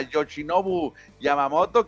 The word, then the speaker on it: Yoshinobu Yamamoto: japonés fate yosin yamamoto pues hay que irnos grabando este nombre para pronunciarlo bien yosi yosi yamamoto hay que ponerle nada más a yoshinobu yamamoto que tiene sete temporadas